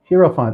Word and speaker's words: Hierophant: Hierophant. Oh, I guess that is how you pronounce it.